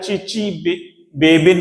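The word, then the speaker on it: Chichibabin: बे बिन अभिक्रिया कहलाती टी S silent है इसमें कभी आपको सर आपने टीएस नहीं बोल रहे टी एस सी एच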